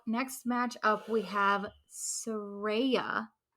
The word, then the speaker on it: Saraya: So next match up, we have Saraya taking on. She said it right, people.